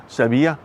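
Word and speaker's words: Sevilla: it's like seville in spain it's it's not seville it's sebia that's how you pronounce it so i can be a bit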